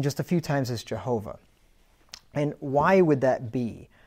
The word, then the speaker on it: Jehovah: between each one and typically with a four letter word it's going to be a three syllable word okay so that's why the name is Jehovah right so if you